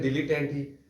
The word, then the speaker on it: dilettante: अगला लफ्ज़ है डिलीटेंटी, DILETTANTE। प्रोनाउंसिएशन इसकी है डिलीटेंटी।